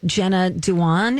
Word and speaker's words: Jenna Dewan: Nina says, I love Jenna Dewan.